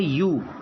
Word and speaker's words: ewe: Next देखिए, EWE, इसका उच्चारण होता है यू। ये मादा भेड़ का बच्चा होता है, भेड़ के बच्चे को यू कहते हैं इंग्लिश में, और ये EWE, इसका उच्चारण है यू, और यू के उच्चारण